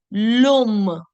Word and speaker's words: l'homme: So imagine that this is silent, obviously, and then you're connecting the sound directly with assuming that H doesn't exist there. So the sound is lom.